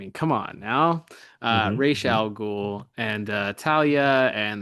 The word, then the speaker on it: Ra's: But we'll be calling him Ra's because we can't help it. So and that's literally what he's called right. The entirety of the run of the DCAU. Right. The character himself pronounces it that way. So at least in this universe. Exactly. Arrowverse be damned, or Nolanverse be damned. He's Ra's in this one.